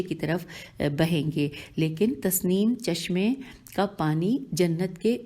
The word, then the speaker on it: تسنیم: طرف بہیں گے، لیکن تسنیم چشمے کا پانی جنت کے زیریں طبقے میں نہیں آئے گا۔ تے سین نون یہ میم یہ ہجے ہے۔ تسنیم چشمے کا پانی